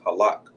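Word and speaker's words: הלך: All right, which is again is halak.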